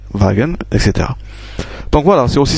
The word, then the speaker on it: Wagen: Man, Wagen, bien sûr on a vu que W se prononçait V, Wagen, etc.